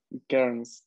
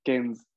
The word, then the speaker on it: Cairns: Sí, también en español creo que más bien la pronunciación sería como, igual, Cairns. Cairns o Kens, justamente.